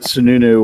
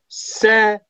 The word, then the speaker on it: Sanu: I much rather let Sununu or Gabriel try and beat us. What? Sununu. Butchered Sununu. Yeah. Sanu.